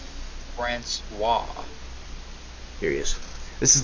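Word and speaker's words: François: Or Francis. Some people say Francis, but Francois. Francois.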